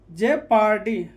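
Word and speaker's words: jeopardy: यहाँ पर JEOPARD, तो EO के साथ यहाँ पर है, तो EO के साथ में है, तो वो क्या होगा, साइलेंट। जे पार्टी, ये क्या हो जाएगा, जे पार्टी।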